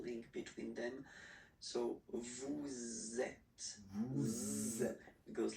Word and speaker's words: êtes: Vous êtes. Vous Same êtes. thing here. Notice that final S is not pronounced.